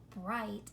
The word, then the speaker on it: bright: this one is called bright night notice the silent G H letter pair in both bright and night you're going to see